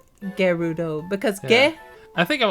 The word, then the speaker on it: Gerudo: have a face uh I always pronounce Gerudo with a soft G until breath of the wild came out still do it sometimes wait like Gerudo Gerudo that does sound